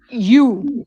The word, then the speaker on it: Xu: Her name is Han Yu. It's spelled XU, her last name.